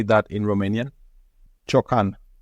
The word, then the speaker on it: ciocan: Ciocan. Ciocan.